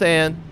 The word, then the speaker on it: Anne: is back up okay it is Anne I like on better because forgotten on it sort of has that same vowel sound but I'll go with Anne seems to be the uh the Western pronunciation for bunku it's